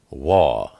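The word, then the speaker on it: וָו: And it's pronounced W, like water. Sometimes it's pronounced O, like ocean. And sometimes it's pronounced Oo, like blue.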